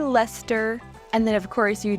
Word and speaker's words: Leicester: Then this one looks like it would say Leicester, but it's actually Leicester.